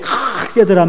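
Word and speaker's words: חסד: 이게 칵세드란 말이 가래 뱉기 직전이에요. 그래서 강도 조절을 잘해야 됩니다. 너무 세게 하면 앞에 분들에게 신뢰를 범할 수가 있고, 약하게 하면 발음하다가 만 거예요.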